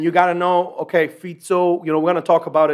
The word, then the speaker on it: Fico: And on the same day or the next day, Robert Fico, I think Fico is how you say it, Robert Fico, not Fico. I thought it's Fico. It's not Fico. He's not Portuguese, right?